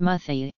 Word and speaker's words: umuthi: Since the pronunciation of the initial vowel of this class is unstressed, the singular is sometimes pronounced muthi.